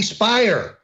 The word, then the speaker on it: Speier: please throw half congresswoman Jackie Speier rhymes with liar running around saying all